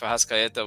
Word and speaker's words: Arrascaeta: Valverde, Ugarte, and De Arrascaeta. Everyone in Brazil says that if Arrascaeta was at this point, you can pronounce his name in Portuguese, Arrascaeta.